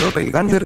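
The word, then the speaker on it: Doppelgänger: es un dopel ganger se pronuncia dopel ganger como todos sabemos los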